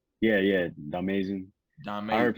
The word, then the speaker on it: Domayzin: Domayzin. I heard Domayzin. people say it like a bunch of different ways, but yeah, you got it right.